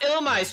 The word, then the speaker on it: Illumise: Illumise is pronounced Illumise, Chugga.